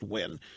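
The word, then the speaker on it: Nguyen: Tina when she Vietnamese ng you y en pronounced win a couple of pull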